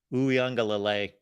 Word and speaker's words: Uiagalelei: Uiagalelei. There we go. There's the pronunciation at the end.